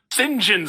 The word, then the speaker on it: St. John: Yeah, I wrote it down because the subtitles spell it out phonetically. SIN-JUN. St. John Smythe.